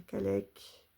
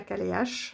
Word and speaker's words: Cailleach: Par contre, j'ai été voir la prononciation parce que voilà, c'est pas la Calche, hein, c'est la CALEC.